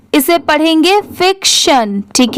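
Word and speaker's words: fiction: और किसी भी कोई भी वर्ड के लास्ट में टी आई ओ एन है तो उसे सन पढ़ते ही हैं। मतलब उसकी साउंड क्या आती है? शन की।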